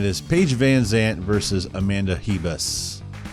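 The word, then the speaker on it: Ribas: Paige Vanzant versus Amanda heba's spelled with an R but it's pronounced with an H Amanda he best is a plus 800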